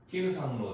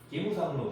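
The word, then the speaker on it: 木村さんの: 자, 기무라고 하는데 이거를 이제 빨리 읽으면 김이 됩니다. 그래서 김상로 데스까? 기무상로 데스까? 이렇게 말하면 일본 사람이 말하는 거고 우리나라 사람들은 김이라는 발음을 할 수 있으니까 읽다 보면은 김상로 데스까 이렇게 하는데 실제로는 이제 기무상로가 되는 거죠.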